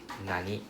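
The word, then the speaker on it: 何: told you this nani can be pronounced as nan can also be pronounced as nani right depending on the particle behind it. So in this case nani right is pronounced as nani.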